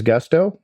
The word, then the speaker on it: Gusto: What is Gusto? Well, it rhymes with musto or rusto, as in let's do it once more with Gusto.